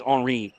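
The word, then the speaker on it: Henri Young: Mind by the way it's HRI he wants to go with the French pronunciation okay not Henry so number four watch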